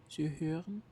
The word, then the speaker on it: hören: It's like the I in girl, but you make your lips more rounded. So, it's hard. Like, hören, to listen.